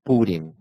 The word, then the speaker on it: Purim: a pronúncia certa é Purim ou Purim? Purim. Ok. Não, mas... Purim, não, pera. Purim. Purim. Não, Purim. É que, na verdade, depende um pouco, mas Purim.